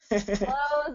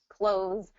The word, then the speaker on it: clothes: happen with this one I'm gonna go ahead and tell you to say the same word okay because it is almost undetectable Y when you do when you hear a native speaker they're going to say it the same okay close the door and I'm going to get my clothes on okay oh it's it's pretty much undetectable okay so in Connected